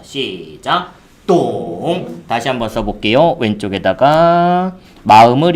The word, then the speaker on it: 懂: 발음 시작. 동.